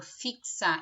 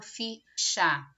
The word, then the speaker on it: fixar: tenho quatro letras mas quando eu falo fixar Eu não falo ficha o X Ele tem som do KS então eu tenho cinco